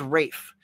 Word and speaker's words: Ralph: it RAF finds or Ralph it's Rafe it looks like Ralph but pronounced Rafe ra finds it's like